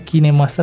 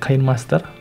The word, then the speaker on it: KineMaster: HP saya menggunakan kinemaster dibacanya kinemaster ya bukan kain Master cancel saja pertama-tama klik